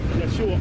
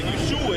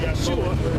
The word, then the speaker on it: Yeshua: So Joshua in English, but Yahawashi in Hebrew. So he did get the right name. No, he got the right name, but the Yeshua is the wrong pronunciation.